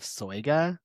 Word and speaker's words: Soyga: The book of Soya. Yep. And that is the pronunciation.